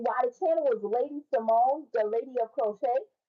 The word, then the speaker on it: Samoan: by the channel is Lady Simone, the lady of crochet. My middle name is Simone, but it's spelled S A M O A N, which is Simone.